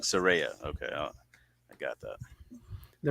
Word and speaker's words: Saraya: had a feeling I was saying it wrong Siria okay I got that they were calling her Soraya all Wednesday night so on dining they butcher